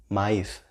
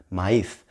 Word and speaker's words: maíz: Corn, maíz, corn, maíz, right? It's got the stress in the I, right? In the E sound. Maíz, right? Maíz, right?